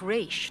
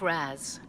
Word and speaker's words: Ra's: pronounced very differently though father's name was pronounced race not raz and i think i'm